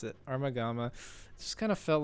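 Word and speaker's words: Armogohma: it up because I couldn't remember how to pronounce it armagamma it just kind of felt like the beginner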